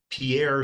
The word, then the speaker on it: Pierre: my hometown which is Pierre South Dakota except we pronounce it Pier so Pierre South Dakota